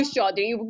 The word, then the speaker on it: Chaudhary: not correct me if I was pronouncing your name wrong. So I, It's very you, Chaudhary, but which is fine.